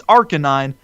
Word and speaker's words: Arcanine: and that's our k9 I know it's arcanine but it's an arcane canine to me I just can't say arcanine it's our canine and wink one habit